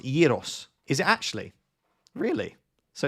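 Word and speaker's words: Gyökeres: It's pronounced Yiros.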